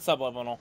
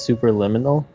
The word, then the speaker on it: Superliminal: keep saying super liminal what's up it's not subliminal what are you talking about it's is it super it's super liminal it's literally super liminal yeah oh okay i